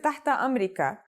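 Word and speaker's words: تحت أمرك: be kuli another phrase you can say is tata amrika which literally means at your service or at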